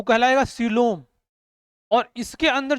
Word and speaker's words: coelom: को बोलेंगे कैविटी, या इसी को क्या बोलेंगे, सीलोम।